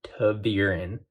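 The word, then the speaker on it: ta'veren: just just right here listen to how i'm pronouncing it to the urine it's how it's pronounced you're welcome they made all five of them tavirin basically two urine is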